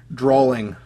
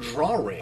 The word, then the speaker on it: drawing: Like, it also drives me nuts when people add syllables to words or add an extra letter. Like, for example, this one drives me nuts. Drawling. Like, you wouldn't say you drool it. I've never heard drawling. I've heard drawing.